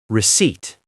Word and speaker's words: receipt: Remember, Lucas, the P in receipt is silent. Receipt.